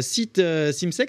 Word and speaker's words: Simsek: êtes venu avec l'un de vos élèves, hein, Simsek, c'est comme ça qu'on prononce ?